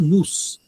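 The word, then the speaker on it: νοῦς: Em grego, mi, ômicron, y, sigma, e a pronúncia é nous, que se traduz geral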